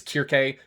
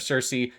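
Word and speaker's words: Circe: A little bit older now, but it also uses like the traditional Greek pronunciations of things. So is Kirk instead of Cersei.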